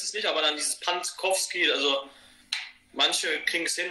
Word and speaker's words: Pantkowski: Also ich sage immer nur Pantowski. Also viele überlesen einfach dieses K nach dem T noch. Ja. Und das eigentlich so schwer ist es nicht, aber dann dieses Pantkowski, also manche kriegen es